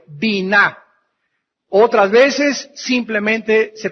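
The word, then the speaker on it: בינה: la palabra vina b y n a H bina otras veces simplemente se pronuncia en el hebreo Bin by yn inteligencia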